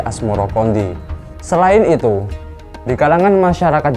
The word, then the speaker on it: Asmoroqondi: 14 Babad Tanah Jawa versi mainsma menyebutkan asmorokodi mengikuti pengucapan lidah orang Jawa terhadap assamarkondi hingga akhirnya berubah menjadi asmorokondi Selain itu di kalangan